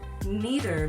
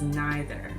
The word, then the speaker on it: neither: Neither may also be pronounced as neither. Neither and neither are both correct pronunciations.